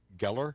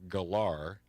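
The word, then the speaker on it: Gellar: she Sarah Michelle gallar a lot of people mispronounce it they they say Geller Geller it's Sarah Michelle gallar I met her I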